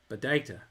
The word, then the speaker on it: Padeita: share for their father, riffing off of the way their father's thick Irish accent produced the word or pronounced the word potato. Padeita is how they said he said it.